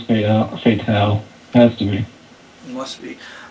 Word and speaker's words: Fatale: think this is pronounced Fatale. I'm just saying. I don't know for sure, but I hear a lot of people calling it Fatale. Huh. Yeah, actually, no, with the E it is Fatale.